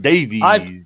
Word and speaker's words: Davies: And you have to say it like that, Davies. I agree with you. I've never called anyone Davies. I always say Davis.